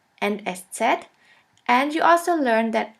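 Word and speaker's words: Eszett: this we call it s set s set or sha s sha s which means a sharp s this letter is pronounced like the double s in the word kiss and always remember this letter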